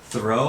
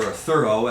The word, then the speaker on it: Thoreau: to place and uh Henry David Thoreau or thorough as they pronounced it in his time he lived for a